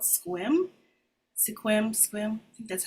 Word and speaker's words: Sequim: There's a little town up there on the corner before you get to Canada called Sequim. Sequim, I think that's how you pronounce it.